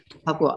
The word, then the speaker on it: Papua: How do you pronounce that? Sorry. Papua.